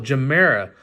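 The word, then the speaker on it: Gemera: Oh, Jamera.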